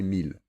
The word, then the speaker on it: mille: Ville, tranquille et mille, et leurs dérivés comme villégiature, tranquillement ou millénaire. Ils se prononcent il.